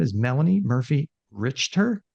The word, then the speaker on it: Richter: another guest today her name is Melanie Murphy richer right did I get that you got it